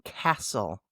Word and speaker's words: castle: Silent T as in castle, listen, and whistle. There's a T in castle between the S and the L.